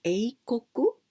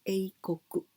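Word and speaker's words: 英国: Cuando decimos eikoku, eso significa Inglaterra o Gran Bretaña. Decimos eikoku.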